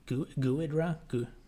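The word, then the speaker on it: Ghidra: looking controls than swing the default ones it's pronounced gidra gidra I'll have to look it up later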